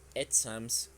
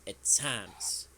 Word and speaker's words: exams: Dicen exams, como si fuera español, para decir exámenes. Que en español tenemos el acento en la primera sílaba. Pero en inglés no pasa eso. Yes. It is exams. Exams is a stressed syllable.